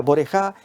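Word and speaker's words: בוראיך: Borijá es como se o se pronuncia borejá en hebreo y en y en hebreo moderno es boraim que es plural.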